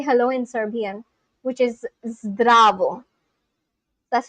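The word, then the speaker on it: здраво: Oh, zdravo. There's one guy from Serbia who is on my channel, and he taught me how to say hello in Serbian, which is zdravo.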